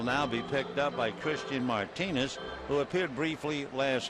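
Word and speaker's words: Cristhian: Christian, you would think, would begin CH. Well, with this Martinez, it's C-R-I-S-T, then the H. It's almost like you have a lisp when you pronounce it.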